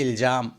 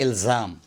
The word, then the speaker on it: الزام: Number پر ہے الزام، اس کو غلط تلفظ کرتے ہیں الجام، الجام نہیں الزام۔ 32 نمبر پر ہے